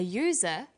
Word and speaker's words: user: an umbrella but a user because user sounds like it begins with a y a and an are